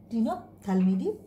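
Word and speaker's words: Ctenophthalmidae: সির উচ্চারণ হবে না, টিনোপথ্যালমিডি।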